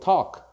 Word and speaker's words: talk: Be careful with talk. We do not pronounce the L, so we say talk in present, and in past we say talked.